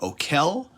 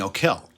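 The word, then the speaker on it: Okell: Some people pronounce it O'Kell. Some people pronounce it Okel. I like saying O'Kell. I don't know which one is right, but I've heard it both ways.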